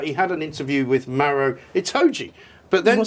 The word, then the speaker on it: Maro: But instead, it turned out he had an interview with Maro Itoje, but then said. It got his people to issue a statement saying that it was Mario Itoje, which of course got his name wrong.